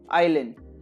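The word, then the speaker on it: island: एस is silent here, oil, आइलैंड।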